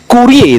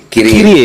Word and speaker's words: Kyrie: Nah, itu sebenarnya bacanya Kyrie apa Kurie itu yang betul Kyrie kan? Karena kan diapit sama 2 huruf mati kan?